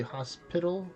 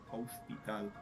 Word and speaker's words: hospital: The difference is hospital. In Spanish is hospital. The th it's mute. You know, hospital. Mm-hmm. No pronounce the h.